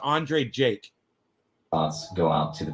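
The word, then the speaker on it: Andrei Jikh: space j-i-k-h all right that's how he spells him but it's pronounced andre jake thoughts go out to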